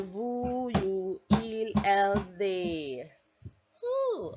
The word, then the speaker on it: vous: Like Winnie the Pooh, we say nous and vous. Alright, please note that pronunciation, okay? So nous, nous, nous. Like N-O-O, probably H at the end.